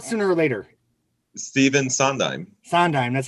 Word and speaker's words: Sondheim: Sondheim. That's how you pronounce his name.